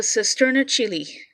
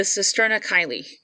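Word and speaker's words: cisterna chyli: of this lady um called the cisterna chili or for some other people that pronounce it differently the cisterna kylie i prefer chili but there you go um that the major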